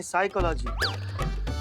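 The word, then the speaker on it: psychology: लागी तो साइकोलॉजी नहीं साइकोलॉजी पी साइलेंट होता है तुम हो जाओ साइलेंट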